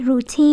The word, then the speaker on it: routine: À, cái này là routine. Như vậy là dấu sắc hay dấu quyền? À, như vậy hay là thanh ngang? Ru là dấu quyền, đúng không? Teen, teen nó đâu có phải routine đâu, đúng không? Teen là dấu sắc, còn này routine dấu quyền. À, thanh ngang, routine không có dấu, teen teen teen không có dấu.